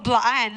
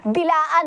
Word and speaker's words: Blaan: Pero anyway, nung hindi naman ako bilaan, I am blaan, no? Kasi wala mang Common na siya na yes. mispronunciation. Yes Good po. before, bilaan ang pag-pronounce eh. Yes Pero, po. dapat ang pag-pronounce is Blaan. blaan.